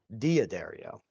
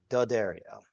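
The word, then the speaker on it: D'Addario: I'm overemphasizing dario because I continue to get comments on how I pronounce diodario which is not correct and that's fine. And I accept that that's not correct. But my god, people, can you just let me not be correct? It's not a big deal. I get it. I understand. It's actually pronounced Dario.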